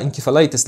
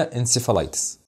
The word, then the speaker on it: encephalitis: في مصر كذلك الامر ولو ان في بعض الناس قالوها انتفلايتس لكن الاشهر هي انسفا لايتس زي كده وزي كده